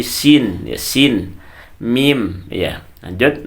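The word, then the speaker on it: سين: miring bukan miring ya jangan Sinin tapi Sin ya Sin mim Ya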